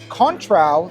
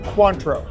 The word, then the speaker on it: Cointreau: This is a classic cocktail consisting of forged gin, cochi americano, contrao, lemon juice, grande absente. Stop. Cointreau. Cointreau. I always mispronounce that.